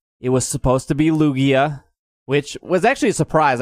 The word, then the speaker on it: Lugia: the 6:00 challenge it was supposed to be Lugia which was actually a surprise I thought it